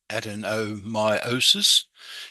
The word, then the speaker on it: adenomyosis: And once again, that's pronounced adenomyosis, is where the tissue lining the uterus starts to grow in the muscular wall.